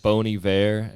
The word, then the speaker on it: Bon Iver: ton for kanye west boney bear it's spelled bon iver yeah yeah hell yeah